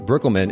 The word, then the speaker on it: Breukelman: And I have with me the lovely and professional and experienced, actually, Megan Breukelman. Am I pronouncing your last name correctly, Megan?